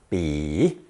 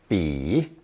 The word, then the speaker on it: 彼: It's pronounced third tone, 比, 比.